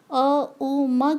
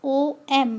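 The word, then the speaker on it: ओम्: ज़्यादातर लोग ओम उच्चारण करने में गलती करते हैं। वो लोग अ उ म की जगह ओ एम मतलब ओम का उच्चारण करते हैं, जो सही तरीका नहीं है।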